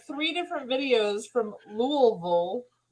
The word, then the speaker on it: Louisville: where Todd is at some people say Louisville when it's really Louisville so you're right oh